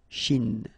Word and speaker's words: Chine: Remember, don't insist on the E. Chine. Okay? And then this CH, sh, Chine.